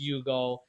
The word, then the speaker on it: Hugo: uh his name was Yugo it's spelled Hugo but pronounced Yugo in Portuguese and he was great